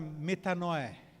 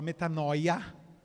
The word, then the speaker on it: metanoia: A palavra grega usada metanoé. A gente fala metanoia, que está escrito, mas a pronúncia é metanoé.